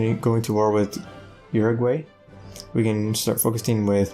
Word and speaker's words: Uruguay: with the what ok uruguay uruguay that's how you pronounce it and try to